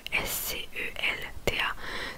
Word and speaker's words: scelta: Donc aussi le mot scelta qui s'écrit S-C-E-L-T-A. Donc le S-C-E qui fait le son chez scelta qui veut dire choix, un choix.